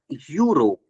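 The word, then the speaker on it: Europe: Like एक example देखो, अगर लिखा गया है यहाँ पर यूरोप, अब स्टार्ट तो किससे हो रहा है? ये ई से स्टार्ट हो रहा है, बट प्रोनाउंस कैसे हो रहा है? यूरोप, यू से प्रोनाउंस हो रहा है।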